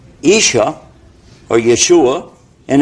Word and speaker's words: Yeshua: the word Issa his name in Hebrew is pronounced Aisha or Yeshua and it's Issa and Arabic and the reason